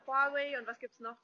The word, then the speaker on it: Huawei: Und ja, Huawei wird auf Chinesisch Huawei ausgesprochen.